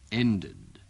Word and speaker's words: ended: Dengarkan perbedaan ucapan dari bunyi akhiran tadi. I missed. The meeting ended. Missed. Ended. Bunyi yang terakhir, ejaannya sama, yaitu ed, tetapi ucapannya berbeda.